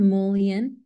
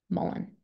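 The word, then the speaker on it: mullein: awesome we have so how do you guys say Mullen because I've heard molan and I've also heard Mullen but what's like what's can we establish a pronunciation for this word before we keep using it for the next five minutes Mullen just like that are we good okay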